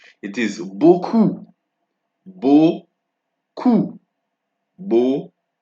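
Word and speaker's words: beaucoup: no no no no no it is not book it is buku boo KU Bo o then we have and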